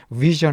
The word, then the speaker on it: vision: 이 발음이 션에 가까워요. vision 하면은 환상 혹은 시력.